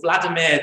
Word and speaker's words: Vladimir: was a man called vladimir the great that's how you pronounce his name if you're a russian if you're a ukrainian